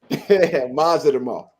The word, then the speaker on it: Madrimov: What's the best pronunciation for this guy's name? Israil Madrimov. Madrimov.